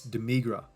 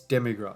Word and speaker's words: Demigra: the rest um yeah dor there uh just doing his thing not dor sorry keep getting his name wrong it's demigra it's demigra yeah I keep I don't